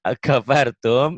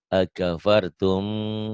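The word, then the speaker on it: أكفرتم: Ini nih, mimati ketemu ba, dibacanya tuh bindeng ya, ikhfa kayak ikhfa. Kayak ikhfa tapi cuma ini bunyi mim. Bibir mingkem tapi bindeng. Akafartum gitu.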